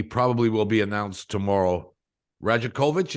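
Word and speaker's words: Rajaković: will be announced tomorrow rajakovich is that is how you pronounce his name Darko Roger kovich uh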